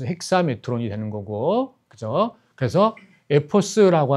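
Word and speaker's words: ἑξάμετρος: 그니까 고대 그리스 발음으로는 핵사가 맞는 거고 요즘 그리스인들한테 가서 이걸 발음해라 그러면 액사라고 발음을 하는 거 이렇게 되는 거죠. 그래서 메트론이 되는 거니까 핵사메트로스 핵사메트론이 되는 거고 그죠?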